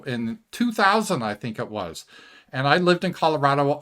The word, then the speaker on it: Roy: goalie called Patrick w now is spelled r o y so it should be Roy but you know the French they don't know any better and they called it w so Patrick W he